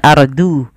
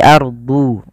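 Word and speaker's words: الأرض: Kemudian pada lafal huruf dhad harus bedakan antara huruf dal dengan huruf dhad. Jangan ardu, tapi ardu.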